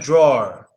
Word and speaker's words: drawer: draw versus draw basically what it is is us saying draw and adding an R forget the E so it's like drawer go in a drawer